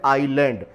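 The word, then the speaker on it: island: word है वो है आइलैंड यहां पर एस को साइलेंट किया गया है लिखा जाता है लेकिन इसका उच्चारण या इसका प्रनंसीएशन नहीं होता आइलैंड यानी टापू जो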